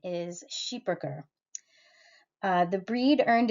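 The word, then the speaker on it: Schipperke: um originating in medieval Belgium uh though many Americans say skipper key the uh correct pronunciation is sheeper uh the breed earned its Fame as shipboard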